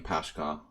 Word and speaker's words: Paschall: so Pascal medium they pronounce my name pashka or something like that I gave up